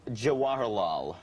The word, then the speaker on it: Jawaharlal: a while you know pronounce the name of the character for me jawaharlal as as in jawaharlal nehru which is okay how